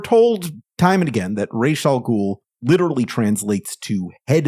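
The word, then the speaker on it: Ra's: they'll tell you that the word for head is pronounced Raz with an a sound like Father uh but uh Denny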